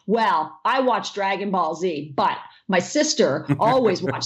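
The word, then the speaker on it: Dragon Ball Z: go away you watch Dragonball Z and oh yeah and I go it's actually Dragon Ball said cuz I'm Canadian and I think like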